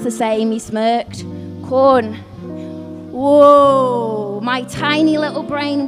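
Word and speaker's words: Quorn: But it's it's pronounced the same. He smirked corn.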